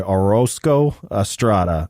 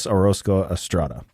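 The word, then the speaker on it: Orozco-Estrada: I was trying to roll my R. I'm just gonna say it like a white boy. Orozco Estrada. Andreas Orozco Estrada.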